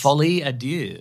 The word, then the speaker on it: folie à deux: This new title that he has to attempt to pronounce. Folie à deux.